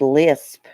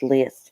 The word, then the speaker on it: List: John list John list I thought it was Lisp or something but it's list yeah I've watched several